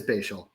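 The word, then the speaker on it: Bhayshul: It is Bashial. Oh, nice. Bial. It's like isn't that spatial? But yeah, like bae as in rhymes with day baselin.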